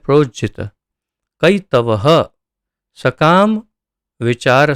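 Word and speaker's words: प्रोज्झित: धर्म धार्मिकता, प्रोज्जित, प्रोज्जित ये शब्द को भी आप देखिए प्रोजित इस तरह से, तो प्रोज्जित प्रोज्जित इस तरह से उसका उच्चारण होगा।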